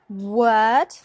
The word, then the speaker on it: word: world world and word the vowel sound in both cases is a like bird but it is the consonant sound in the middle that makes the difference so word word word and world world